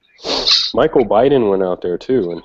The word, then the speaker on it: Baden: Well, no, it's Baden, like B-A-D-E-N, but they call it, it's like Biden. Oh, okay. It's pronounced Biden.